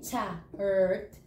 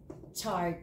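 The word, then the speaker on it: tsart: So T-S-A, chart, chart. It sounds like C-H, but it's T-S, okay, chart.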